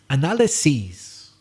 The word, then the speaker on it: analyses: in the laboratory analyzes but it could also be the plural of the noun analysis which is pronounced analyses different pronunciation are you going to carry out an analysis well in fact i'm going to carry out two analyses same spelling as the verb she analyzes different pronunciation the next word has